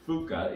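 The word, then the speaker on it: Phooka: I settled on using the phrase Fuka. It's P-H-O-O-K-A because I kind of like that pronunciation.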